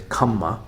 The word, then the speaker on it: kamma: um anyway so uh in the pali uh pronunciation is kamma and then in sanskrit is karma so sometimes in these